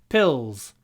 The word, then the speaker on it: pills: is down here pills and the l i pronounce in my throat pills pills pills vitamin pills pills I hope you can